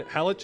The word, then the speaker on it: Halych: The CH in Halych is pronounced like the word in channel.